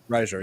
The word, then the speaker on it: Reiser: I'm hoping I'm pronouncing that right. Reiser. Reiser, yes.